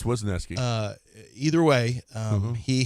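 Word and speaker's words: Wesneski: And Hayden Weski, I guess you're just going to have to Ornuski. It depends on how you pronounce his name. Well, it's Weski.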